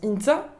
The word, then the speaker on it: Ihintza: Ihinza, qui se prononce Inza.